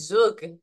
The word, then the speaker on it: Zug: Oh, it depends if you talk to my husband's family. Oh. They would say it's Zug. Oh, okay. So Zug, we want to make